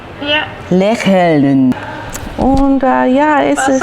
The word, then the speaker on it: lächeln: Lächeln. Lächeln. Lächeln. Lächeln. Lächeln. No? Lächeln. Lächeln. Lächeln. Yeah, so lächeln. With the L and the N. Ja. Lächeln.